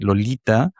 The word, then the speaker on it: Lolita: Hay que hacer un esfuerzo que no es normal en el inglés para que la T suene Mm, interdental, porque Lolita es extravagante, es exótica,